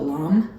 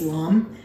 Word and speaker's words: lame: to do your scoring is called a LOM or it's spelled like lame but it's LOM um so again you